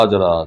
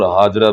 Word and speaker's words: ہاجرہ: رابی کو شک قالاتها آجرہ، دے دے اس کو آجرہ۔ آجرہ کے دو لغتیں ہیں، دو لہجے ہیں، آجرہ بھی ہے اور ہاجرہ بھی ہے، مشہور ہاجرہ ہے، دونوں لہجے درست ہیں، حدیث میں آجرہ